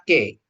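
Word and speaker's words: καί: Kai hologos ini kai bacanya ke k ke ya?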